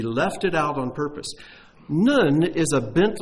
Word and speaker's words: Nun: The 14th verse should start with the letter Nun. That's the letter Nun. You spell it like none, N-U-N.